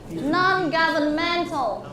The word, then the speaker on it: non-governmental: And please put the stress on the fourth syllable. The fourth syllable, mental.